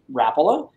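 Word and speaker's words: Rapala: the pronouncing of it rappola if you think of it in the words a world of finnish people finlanders that's the way they would say it chris was saying earlier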